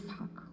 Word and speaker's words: Ishaq: Probably he was not a Jew because his name is pronounced as in Arabic and is not as in Hebrew. In Hebrew it would be Itzhak, and in Arabic is Ishaq, okay?